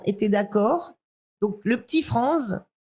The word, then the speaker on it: Frantz: d'accord, donc le petit Franz, parce qu'on prononçait Franz, alors ça m'amuse toujours quand les gens disent Frantz Fanon, etc. Non, c'est ici en Martinique, vous êtes bien d'accord, on prononce Franz.